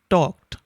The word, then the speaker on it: talked: awkward a little odd so these kinds of words are pronounced with a t sound or tur sound talked same way for this